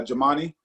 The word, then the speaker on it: Jumaane: just one slight uh it's actually uh jamani uh but a lot of folks say jermaine so no problem thank